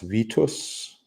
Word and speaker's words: Vitus: It's pronounced Vitus.